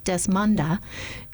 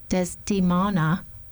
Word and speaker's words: Desdemona: about why Othello has turned against him, beseeches Desmona, I'm saying that wrong, Desdemona, to tell him whether his offense be of